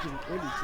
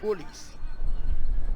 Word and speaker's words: Mukolisi: Well, it's not Mukolisi, it's Mukolisi. We must find a proper pronunciation with this names of ours.